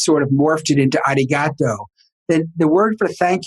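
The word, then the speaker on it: arigatō: path do you know how to say thank you in japanese it's arigato okay mr roboto and they didn't have domo origato mr roboto yes but it's actually arigato and they did not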